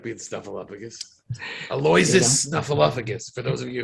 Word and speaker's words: Aloysius: Aloysius Snuffleupagus, for those of you who are curious. His first name is Aloysius.